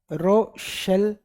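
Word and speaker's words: Rochelle: इसका एक दूसरा नाम भी है, रोशेल सोल्ट बोलते हैं इसको, रोशेल, ठीक है, रोशेल सोल्ट। स्पेलिंग पे मत जाइएगा, एनसीईआरटी से उठाया मैंने सीधा, ठीक है।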